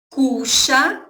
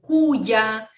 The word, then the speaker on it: cuya: várias outras pronúncias, como cuya, cuya, certo? Que é o som do Y quando está no início ou no meio da palavra.